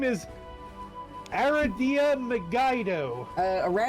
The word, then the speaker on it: Aradia: Some people pronounce it aradia, but like it's rad. It's Aradia. Aradia. It's Aradia. I just said Aradia cuz she's rad.